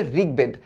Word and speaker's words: ঋগ্বেদ: ঋগ্বেদ, তাই না? রি এর উচ্চারণ তো এরকম আসে, ফ্রি যখন রি বসে, হ্যাঁ, তাহলে এটার উচ্চারণ আসতেছে ঋগ, এ দেখো ঋগ, হ্যাঁ, ঋগ, তারপর উচ্চারণটা আসতেছে বেদ, ঋগ্বেদ।